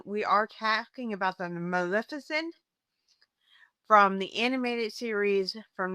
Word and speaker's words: Maleficent: We have the iconic, the legendary Magnificent, as I call her. I know it's Maleficent. Oh, I can't even say the name. I've been saying her name wrong for so many years.